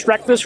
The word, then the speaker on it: Streckfuss: My name is Mr. Streckfuss, rhymes with breakfast, and I'm a middle school math teacher who's been promoting the Aptera for over 20 years.